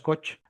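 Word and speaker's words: Koch: Yo digo suelo decir cog, supongo que es por el alemán, eh yo creo que la la pronunciación adecuada es coch.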